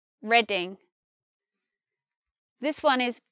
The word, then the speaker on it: Reading: This one is not reading, as in reading a book. This one is just reading, reading.